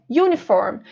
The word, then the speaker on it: uniform: aqueles símbolos com som, vocês vão ver que na pronúncia é como se tivesse um sonzinho de Y antes do U. Uniform.